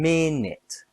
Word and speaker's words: minute: Today minute has two syllables stress on min. M minute interesting has three syllables stress on in.